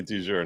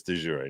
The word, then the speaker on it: de jure: I used the New York pronunciation of de jure, and Boozy called me out on it today. So did he really? Yes. Yeah. He's like, these incompetent law tubers should think that they can criticize Justice Sotomayor. I was like, dude, I pronounced it exactly as she did. And that's because New Yorkers, we all say du jour, not right. But technically it's accurate. It's de jure, not de jour.